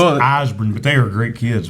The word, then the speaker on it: Ysbrand: It's spelled, YSBRAND. It's Osborne, but they are great kids.